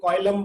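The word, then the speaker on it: coelom: ठीक है, तो सीलम बोलते हैं, कुछ लोग कॉइलम बोलते हैं। ठीक है, आप जैसे प्रोनाउंस करना चाहते हो कर लो।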